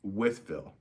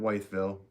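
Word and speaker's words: Wytheville: It's Withville, right? Not Whiteville, Withville in Virginia.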